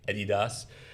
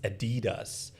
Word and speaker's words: Adidas: So we pronounce it Adidas because we're from Syria, so we say Adidas, but it's pronounced Adidas.